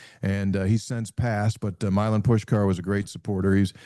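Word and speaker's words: Milan Puskar: Uh for the for those that are out there the proper pronunciation is Milin Pusker. No actually it's Milin and then just think about pushing a car. Milin Pushkar.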